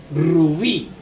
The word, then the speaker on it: rubí: La palabra es rubí. Rubí, ¿verdad? La clasificamos, ¿verdad? Aquí es la última sílaba y esta es la penúltima sílaba. Rubí, miren, rubí. ¿Dónde lleva la mayor fuerza de voz?